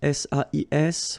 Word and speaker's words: sais: Okay, so if you look carefully here, you write it S-A-I-S, well, the same way here. Here you write it S-A-I-T, okay, but then phonetically these three forms are the same, and it's c'est, okay?